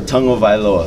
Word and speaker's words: Tagovailoa: Uh, tongue oa. So you say tongue first. O voa.